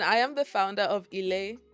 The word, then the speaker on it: Ilé: If she um and I am the founder of Ela, that's how you say it, which is Euroba for home.